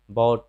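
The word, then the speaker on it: bought: जैसे कॉट, कॉट मतलब पकड़ा, ब्रॉट, ब्रॉट मतलब लाया, बॉट, बॉट मतलब खरीदा, या थॉट, थॉट मतलब सोचा या विचारा या विचार। तो हम यहाँ देख रहे हैं यू जी एच टी है तो यहाँ पे साइलेंट हो जा रहा है यू।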